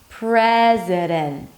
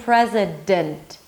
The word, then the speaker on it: president: President. I'm not saying president. President.